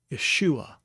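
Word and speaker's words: ישוע: Yeshua, Yeshua. And that would be an appropriate spelling for Yeshua.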